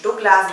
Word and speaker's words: Douglas: Słuchajcie, ja mieszkam w Niemczech i tutaj w Niemczech wymawia się Douglas i jest to wymowa jak najbardziej poprawna, także wyluzujcie dla tych,